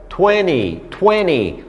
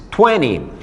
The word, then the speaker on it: twenty: americano acaba Acontecendo algo a gente não pronuncia o t de 20 de 30 de 40 de 70 de 80